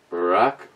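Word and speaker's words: Rauchbier: it's beautiful and kick here is a German lesson shall be equals pronounced shizer rosh be pronounced rock rock beer smoked beer I'm sure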